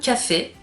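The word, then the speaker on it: Coffey: Un homme très grand, très imposant, qui se fait appeler John Café. Et qui se dit que ça se prononce comme le café, mais pas écrit pareil.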